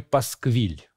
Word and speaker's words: пасквиль: лучшего содержания то говорили он выдал очередной пасквиль есть с ударением на последний слог Если мы с вами